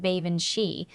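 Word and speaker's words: Baobhan Sith: Baoban Sith, he pronounced it like Bavan She, and that reminded me of the name Banshee.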